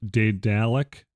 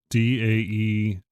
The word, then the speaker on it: Daedalic: The company that published it is Daedalic, Daedalic. because it's like an adjectival form of Daedalus.